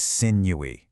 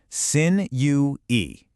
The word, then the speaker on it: sinewy: sin u e. You can see the three distinct syllables there with the first part rhyming perfectly with when as an adjective.